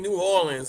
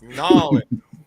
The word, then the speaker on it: New Orleans: You keep saying New Orleans like 2 words. Like that's not even how you pronounce them. It's Nolans. Nolans.